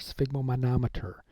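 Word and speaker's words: sphygmomanometer: what about this thing so sphigmometer sigma manometer is the way you pronounce that that's the cuff in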